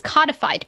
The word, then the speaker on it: codified: think that there's no it is codified because there is no silent e on the end okay and the silent e on the end would make the o into the long o if the totality of